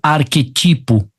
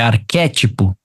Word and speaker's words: arquétipo: a pronúncia correta é arquétipo e não arquetipo é arquétipo na letra D não